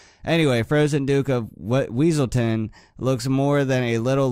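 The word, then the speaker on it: Weselton: the production pronunciation of weaselton as wesselton when a german native would pronounce it veiselton the duke's german accent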